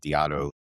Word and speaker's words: Diatto: I picked up the, when we started here, I asked you how to pronounce it and I said Diatto.